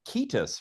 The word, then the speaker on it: Cetus: I pronounce Latin as if I were an Italian. That's what the priest taught us. Hmm. And there's an older way where that would have been Ketus, right?